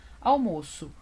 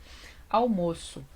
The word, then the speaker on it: almoço: questão da pronúncia diferentes almoço eu falo almoço com esse ó fechadinho né quase que parecendo um acento circunflexo Que almoço mas aqui é quando o timbre aberto é almoço e eu almoço eu